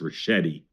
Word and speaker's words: Ricchetti: Okay, I will politely and gently tell you his name is pronounced Ricchetti.